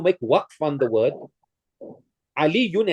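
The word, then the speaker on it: عَلِيٌّ: Aliyun has a shadda on the ya. So you can hear how I pronounce it. A shadda basically represents two of the same letters. Aliyun. Aliyun. These two yas that I'm pronouncing. So when you make waqf on it, you can't just say Ali. You must say Ali. You must hear that ya.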